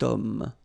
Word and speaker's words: homme: Remember, H is not pronounced, okay? So you've got the sound of O at the beginning of this word, okay? Cet homme.